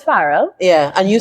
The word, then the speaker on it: Farrell: your name is um my family says farell yeah and you say